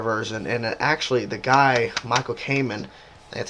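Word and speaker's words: Michael Kamen: it's an orchestra version and actually the guy Michael Cayman that's how you say his name the conductor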